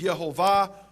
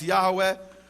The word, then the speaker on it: Yehovah: Him by His name, which is Yehovah, or others pronounce Yahweh.